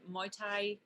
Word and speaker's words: Muay Thai: girls to see a Muay Thai am I saying it right my time yeah Muay Thai yeah the loved it